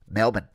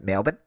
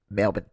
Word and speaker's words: Melbourne: it properly just uh put your hand over your nose Melbourne Melbourne because it's really hard to say Melbourne like melbour it doesn't come out so go with Melbourne and you'll be good